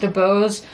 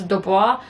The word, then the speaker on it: Dubois: last name is dubose in south carolina it's pronounced dubose and canada because i know there's a hockey flare his last name is spelled like this and is dubois and that is how